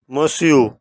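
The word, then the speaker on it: Monsieur: मसू यह फॉर्मल है और फ्रेंच में यह प्रोनाउंसिएशन की एक्सेप्शन है जिसके मानी मिस्टर यस सर मादाम यह फॉर्मल है।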